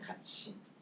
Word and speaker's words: 같이: So if this transferred to like next letter, it'd be 같이, right? But this reads as 같이.